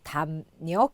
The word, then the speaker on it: 담력: 발음하죠 자 그 다음 미음 뒤에 ㄹ이 나와서 담력 이렇게 발음합니다 자 송년 나와 있는데요